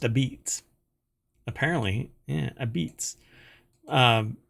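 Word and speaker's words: apizza: a beats it's pronounced a beats apparently yeah Ab Beats um I guess that's a nod it says a nod to the dialect of early Italian immigrants who settled the city but I offer up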